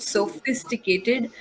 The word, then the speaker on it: sophisticated: Sophisticated. PH, the letters PH sound like F. Sophisticated. Okay. Like phone is F, is PHON, but you say it like phone, F, phone.